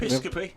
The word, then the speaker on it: Episcopi: I can't Episcopi.